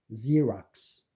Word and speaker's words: Xerox: 그다음에 이제 이 X는 특히 제한적인 숫자로 Z로 발음되는 거 있는데 Z는 xylophone, Xerox.